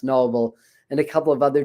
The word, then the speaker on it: Nobel: According to Steve Noble or Steve Nobel, well, he pronounces his name Steve Nobel, Nobel, but I think it's pronounced Noble.